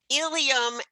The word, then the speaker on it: ileum: Ilium and ilium, again, pronounced exactly the same.